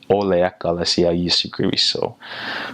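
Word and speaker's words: O le Ekalesia a Iesu Keriso: Christ, they would say, like in an English accent, you'd kind of be like, Ole ekalasia a Yesu Keriso, where in Samoan you would be more pronouncive on those vowels. Ole ekalasia Yesu Keriso.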